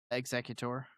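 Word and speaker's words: Exeggutor: It's it's pronounced exeutor like the original word like an exeutor of the state.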